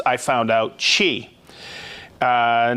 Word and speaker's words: Qi: tough time pronouncing it Qi technology which is pronounced I found out Chi uh not Tai Chi but she Qi it's